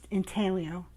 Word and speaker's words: intaglio: It's a reverse intaglio. You spell it I-N-T-A-G-L-I-O.